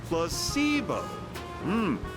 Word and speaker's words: placebo: day repeat after me placeo H the stress is on the middle syllable very good you're figing